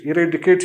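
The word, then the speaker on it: eradicate: Transcription इसकी और आपने इसको किस तरह से प्रोनाउंस करना है। अब ये एक लफ्ज़ है इरेडिकेट। इरेडिकेट यानी जड़ से उखाड़ देना, ख़त्म कर देना, ठीक है।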